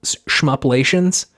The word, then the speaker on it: Shmuplations: Before we get off this interview, I did want to shout out this website called, I think it's Shmuplations.